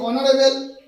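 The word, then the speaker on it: honourable: দেখো অনারেবল, এখানে consonant letter আছে কিন্তু উচ্চারণ হচ্ছে অ, অনারেবল অ, সেই জন্য কি হচ্ছে এটা অ্যান বসবে, কারণ এটা একটা ভাওয়েল সাউন্ড।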